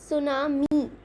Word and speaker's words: tsunami: एक बार स्पेल करके देखिए, सुनामी, you know what is that. Okay, सो ये जो है ना हमारा एक वर्ड है टी, टी उसमें साइलेंट है।